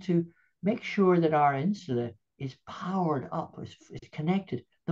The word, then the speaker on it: insula: Is it I-N-S-U-L-A? I think insula, would that be Yeah, correct? insula, Yeah. Insula.